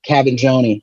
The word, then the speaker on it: Cavaggioni: I want to welcome everybody, all of our listeners, to Cavaggioni.